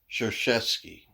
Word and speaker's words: Krzyzewski: krasinski kashevsky all right how he pronounces it i guess it's called pronounce chershetsky okay again k r